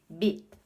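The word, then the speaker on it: 빛: Bit. Sugar. So it's bit because you don't pronounce the actual sound of the consonant at the end of the word. You don't do that.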